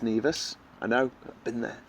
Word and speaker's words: Nevis: Kitts and Nevis, but it's actually pronounced Nevis.